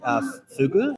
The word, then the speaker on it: fugu: I'm not sure if I got the pronunciation right, but is it fugu? Oh, fugu.